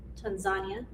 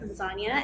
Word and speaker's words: Tanzania: She went to Tanzania. Yeah. Said it right, Yes. Tanzania, and then you went to climb Mount Kilimanjaro, and then you ended at a safari.